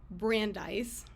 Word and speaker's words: Brandeis: was an article by Samuel Warren and Louise Brandeis correct me if I'm I'm pronouncing that correctly because I have read it